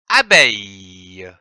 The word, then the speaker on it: abeille: La lettre B et le son EI donnent la syllabe beille, comme une abeille. A, A, B-E-I-L, beille, L-E, le, que l'on prononce abeille.